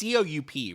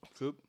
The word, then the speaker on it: coup: It's COUP, right? Or Yeah, COUPE? COUP, Okay. but pronounced coup. I want to say it like that. Cope? Coop. Coop? Coop.